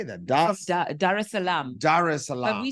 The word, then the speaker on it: Dar es Salaam: how do you say that Dar es Salaam Dar es Salaam we say she's joining us Corey Grace welcome